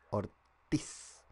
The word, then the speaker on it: Ortiz: Ortiz, esto es con il, con acento en la I. Ortiz.